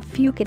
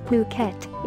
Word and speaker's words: Phuket: for yourself tehsil Fugate artists all courses in Phuket Thailand are fully accredited both internationally and also